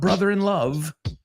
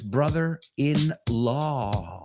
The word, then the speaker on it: brother-in-law: No es brother-in-love, que lo he oído mil veces. It's not brother-in-love. It's brother-in-law.